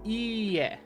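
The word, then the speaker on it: いいえ: On the other hand, ie with a long e sound means no.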